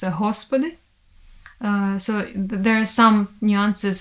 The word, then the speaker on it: Господи: In Russian language it's G, and in Ukrainian it's H. So, for example, word Господи in Russian, in Slavic language and in Ukrainian it's Господи.